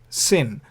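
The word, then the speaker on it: שׂ: But if the dot is on the left, then you pronounce it like samek, set, sin.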